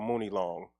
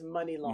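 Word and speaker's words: Muni Long: But then you got, like, this year, the girl who's nominated, how you pronounce it, Money or Mooney Long? It's Money Long.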